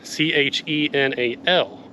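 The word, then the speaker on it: Shinal: And you may be thinking of Chenal Road, but that is spelled C-H-E-N-A-L. Chenal Mountain is spelled S-H-I-N-A-L. Different Chenal. Almost to the top.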